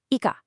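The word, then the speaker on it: 行か: For eco, this form is eka, pronounced ika. Hear that? Eeka. Really focus on that a sound at the end.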